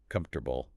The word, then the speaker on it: comfortable: So native speakers take those four syllables in comfortable and swallow the middle entirely. They compress it into three messy sounds. It sounds like comfortable. Comfortable. You completely lose the O and the A.